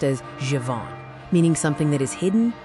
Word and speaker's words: Tsafon: We are naming the Zhifoning, Tsafon pronounced Zhivon extraction.